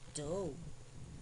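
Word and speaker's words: dough: eight now let's review these words with silent gh knight n i g h t night do d o u g h slay s l e i g h eight e i g h t eight now boys and girls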